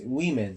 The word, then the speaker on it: women: mice geese women men the pronunciation is different it's not woman it's women that's referring about plural